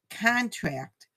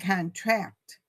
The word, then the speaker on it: contract: If you stress the last syllable, it's a verb. So contract and contract.